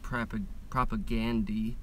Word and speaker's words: Propagandhi: This is a band I like called Propagandhi, now pronounced Propagandy for some reason, but this is a bootleg 7-inch, because the spelling is, you know, the new way to spell Gandhi.